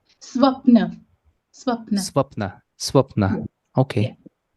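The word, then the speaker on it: स्वप्न: How is it pronounced? Swapna.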